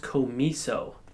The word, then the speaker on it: COMISO: this product comes with I think it's pronounced Co me so you lock Co me